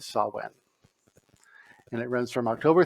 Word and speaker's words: Samhain: as I mean but the Celtic pronunciation is Sawan and it runs from